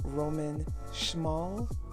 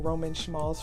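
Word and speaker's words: Roman Szmal: Next up we have Roman Schmal. I believe that's how you say it. I was saying Roman Schmals for the longest time.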